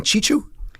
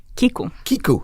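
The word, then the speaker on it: Chicu: So last month, Moldova's pro-Moscow president, Igor Dodon, appointed his ally, and Corina, correct me if I pronounce this incorrectly, Ion Chichu? Kiku. Okay, there we go.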